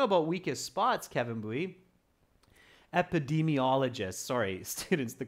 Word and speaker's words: epidemiologists: Epidemiologists, sorry, students, the correct pronunciation is epidemiologists.